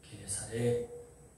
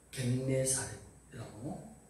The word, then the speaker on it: 게네사렛: 그것을 게네사렛 그렇게 또는 겟네사렛이라고 공동번역은 그렇게 발음을 합니다.